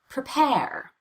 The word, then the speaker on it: prepare: the vowel and all the change in Pitch prepare prepare unstressed syllables are often very confusing as far as